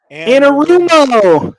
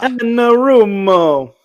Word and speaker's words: Anarumo: I can never pronounce that name. Anarumo. Yeah. Anarumo.